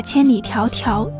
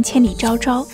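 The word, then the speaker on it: 千里迢迢: 平有限，硬是把千里迢迢读成千里昭昭。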